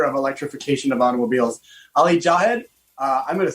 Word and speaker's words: Jahed: ali because i do i want to say jawa because i think it's it's like the closest thing i can pronounce the java that's kind of how it's pronounced but it's actually j-a-h-e-d ali welcome to the